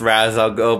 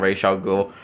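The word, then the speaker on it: Ra's al Ghul: know i know i know the movie is pronounced razz i'll go but the mispronounced it has razzles though so i'm just going to call him racial ghoul uh and yes he this is not he's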